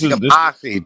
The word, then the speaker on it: Yamasee: Hey, so it's Yamasee too. That's how they pronounce it. They pronounce Yamasee.